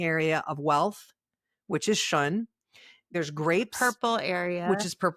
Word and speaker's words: Xun: So to do something really straightforward, if you want, you can work in the corner in the area of wealth, which is Shun.